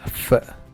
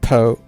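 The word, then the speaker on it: phở: And it's pronounced as f, not po, it's f.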